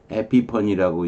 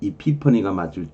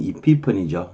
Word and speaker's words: epiphany: 영어 발음은 이피퍼니가 맞을 건데 그래도 뭐 우리가 일상적으로 문학적인 얘기를 할 때 에피펀이란 말을 쓰니까 그냥 에피펀이라고 제목을 적어봤어요. 에피펀이로 하든 에피파니로 하든 뭐 상관이 없는데 영어 발음은 이피펀이죠.